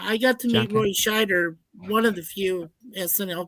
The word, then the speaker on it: Scheider: But Roy Scheider was telling me, he was like, Schneider. I'm saying his last name wrong.